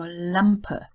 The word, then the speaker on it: Lampe: Now the German L is pronounced like the so-called front L, the English front L, as in lamp, not like the back L as in rattle. So Lampe, Apfel, sammeln, Teil or Teile.